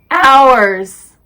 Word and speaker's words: hours: Sometimes H has no sound. Historical. Herb. Oh! Hours.